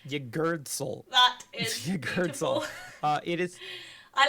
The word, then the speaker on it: Yggdrasil: So there's a real gap there between vowels. Yeah. Yeah. It is literally like being strangled.